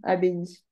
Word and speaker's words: abbaye: Ah, Ça s'écrit A-B-I. wow. Ok? Un ou une abbaye? Un habit. Non, une. Une abbaye.